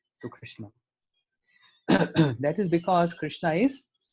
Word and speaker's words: Krishna: I was attending his class and he was saying, when the tongue goes fold three times, then Krishna comes out. Krishna.